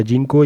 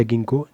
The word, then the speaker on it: ginkgo: Ginkgo. या जिनको या गिंको, जो ऐसे प्रोनाउंस करना है आपने.